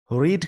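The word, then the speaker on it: read: रीड का जब second form और थर्ड फॉर्म की बात की जाए तो उसका प्रोनाउंसिएशन हो जाता है रेड।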